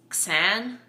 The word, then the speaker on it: Xan: power um theo's cousin whose name i think it's san xan is how david case